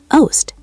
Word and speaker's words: oost: "Oost," Elias echoed. The double O made the same long boat-like sound as in groot and boom. Oost.